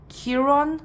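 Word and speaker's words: Chiron: Maybe you have sun, moon, rising in Leo or um, Kiron, that's how you say it.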